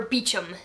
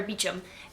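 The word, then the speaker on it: Beauchamp: going by the name Clare ban uh or beum is how she pronounces it uh Clare beum and they they try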